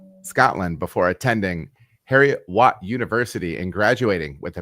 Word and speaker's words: Heriot-Watt: As it's spelled, Heriot-Watt. Yeah, you got it.